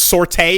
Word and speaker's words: sortie: What, are you going to tell me it's sortie? You have some other weird English pronunciation of sortie?